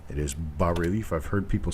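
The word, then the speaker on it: bas-relief: thank you very much you do not pronounce the s it is ba relief i've heard people say bass relief it is not bass relief it is not base relief base has two s's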